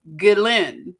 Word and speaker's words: Ghislaine: It's Ghislaine. Okay, so from here on, I can't promise, but I'm going to try to say Ghislaine instead of Ghislaine.